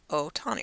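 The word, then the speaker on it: Ohtani: Otani.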